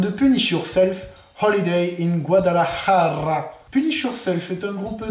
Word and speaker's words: Guadalajara: Non, c'est Guadalajara. Ah, je sais pas. C'est Jara, pas Raja.